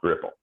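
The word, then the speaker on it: REPL: them if possible so whoever made this decided that r-e-p-l should be pronounced ripple i would have gone with repel myself i think but uh we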